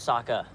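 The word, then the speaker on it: Sokka: future not past mistakes my name's Saka rhymes with AA and waka waka she looks very brave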